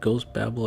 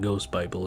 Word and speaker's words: Ghost Babel: think it was called ghost Babel I think that's how it's pronounced it's not ghost Bible it goes bable but Bell Babel goes Babel something like that that is on